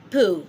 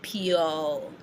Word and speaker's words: peau: Peau. That means skin, okay? Peau. Peau means skin. So when you say PEAU, you just go on and say peau, not pure.